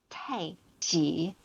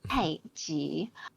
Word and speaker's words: Tai Chi: And in actuality, um, it's pronounced Tai Chi. In Chinese, it's Tai Chi.